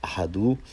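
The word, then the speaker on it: አሐዱ: And so the Hebrew is pronounced ahad, while the ge'ez is pronounced ahadu.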